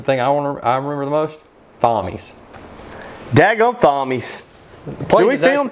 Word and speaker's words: Thommies: No, we did, because you did karaoke in Thommies. Well, what's funny is I did do karaoke in, it's called Thommies. Yeah. So Thommies. But it's spelt like Thomas with an H.